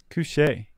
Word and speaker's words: couché: Pantone 448 C opaque cuche is that how it's pronounced I don't know Casey c u c h e with a little over the E coo cooche coche says Casey we have a livein